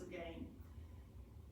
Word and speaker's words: Lurgan: It's l u r g a n, but pronounced again.